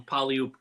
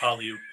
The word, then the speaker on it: Puyallup: Yeah, I heard someone say Puyallup. He just keeps saying Puyallup. So anyway, it's not. It's Puyallup. We do know the correct one, so don't yell at us.